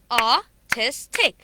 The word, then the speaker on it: artistic: artistic okay ah testic so tick is the last syllable and the previous syllable is a t so t is the second syllable a testic as i told you that the syllable before take would be stressed now this stress is called primary stress okay uh ah testic